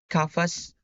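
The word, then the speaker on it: قفص: the initial C we have cage which is pronounced kafas we have word which is pronounced kafa and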